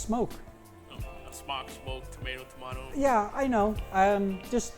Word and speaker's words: Smok: the market yes some schmuck unless you've been told it's it's actually pronounced smoke yeah I know I'm